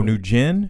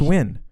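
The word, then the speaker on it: Nguyen: uh nugent nugent oh new gin yeah was he asian yeah you sure that wasn't win no it wasn't when it's like nyg that's win that's win that's pronounced win you don't even know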